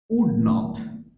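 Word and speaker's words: wouldn't: নিডেন্ট নিডেন্ট নিডেন্ট নিডেন্ট উড not same ভাবে উডেন্ট উডেন্ট don't sound আসবে don't don't not উডেন্ট sound হবে don't উডেন্ট উডেন্ট উডেন্ট উডেন্ট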